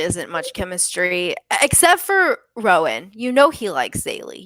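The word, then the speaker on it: Roën: Over Rowan? Yeah, I think so. Ronan? Rowan. I think it's Rowan. Yeah. Yeah, because it's the same.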